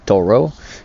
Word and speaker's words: Thoreau: con una frase di henry david thoreau che pronunciato all'americana perché nonostante abbia un nome francese lui era statunitense che dice i libri